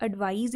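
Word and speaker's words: advise: ठीक है, तो मतलब सलाह देना जब भी आपने यूज़ करना है तो आप एडवाइज़ यूज़ करते हो, बोलते भी इसको ज के साथ हो और स्पेलिंग में भी एस आता है।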